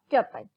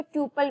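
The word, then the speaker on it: tuple: Next है बेटा, रोज are also known as records और ट्यूपल, या फिर कई जगह इसको ट्यूपल भी प्रोनाउंस कर देते हैं, ठीक है, बोथ आर करेक्ट।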